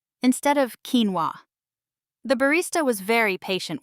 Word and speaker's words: quinoa: Last week I tried to order quinoa at a cafe and called it quinoa instead of quinoa.